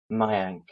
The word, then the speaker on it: Mayank: my uncle just to read it spells yeah mayank okay is there a silent k did you pronounce okay as well yes yes we do